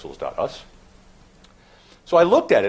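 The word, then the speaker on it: pixls.us: us which is actually how I pronounce that guess anybody was curious it's pixels. us so I looked at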